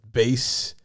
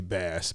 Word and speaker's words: bass: Whenever my brain sees the word bass, the way the English is spelled, I always say bass, but it's bass guitar.